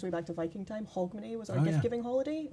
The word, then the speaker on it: Hogmanay: Hogmanay? No. How do you say it? Hogmanay.